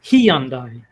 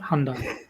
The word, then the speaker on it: Hyundai: It's Hyundai, not Hyundai. It's E-Honda.